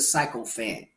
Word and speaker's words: sycophant: Don't be a sycophant. That's how you say it, sycophant.